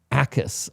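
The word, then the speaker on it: Jacas: Like, Gabe Akis. I think the J is silent, which honestly it makes sense.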